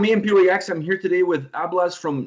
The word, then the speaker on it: Ablaz: I'm here today with Ablaz from Nachtblut. And before I continue, did I pronounce it correct? Please help me out with this. Yeah, it's all good. Ablaz is good. Also, your pronunciation and all your German words is very good.